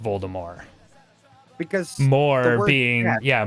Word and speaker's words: Voldemort: harry potter words that voldemort is actually supposed to be pronounced voldemort because more being yeah more being the french word for death for death exactly right